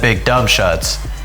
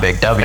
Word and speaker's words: BigWShutts: And BigWShutts beating Team MJ Burley 129 to 119. You notice I said BigWShutts, not Big W. Exactly. Shuts. We've been saying it wrong all season.